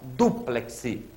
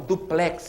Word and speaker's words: dúplex: ali que é impressionante Ó dúplex você compra um armário duplex você não compra um armário duplex a palavra é parox cito aquele ú tem acento dúplex tá e não duplex que é a pronúncia corrente perigosa né Essa engana muita